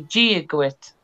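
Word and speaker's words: Dia dhuit: So, if you were to say hello in Irish or Gaelic, you would say Giaguit. Giaguit. Yeah, and that's spelled it's DIADHUIT, so it's Giaguit.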